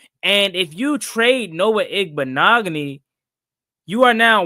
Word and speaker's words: Igbinoghene: He said you pronounce that name with ease. Appreciate it. Yeah, Noah Igbinoghene.